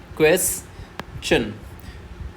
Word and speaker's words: question: क्वेश्चन क्वेश्चन क्वेस को ही हमें loud पढ़ना है और च को धीरे से डाउन करते हुए चले जाना है।